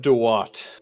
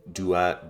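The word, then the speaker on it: Duat: This is of Dwat. Yeah. Yeah. Uh Dat Dwat. Um very very close, very similar.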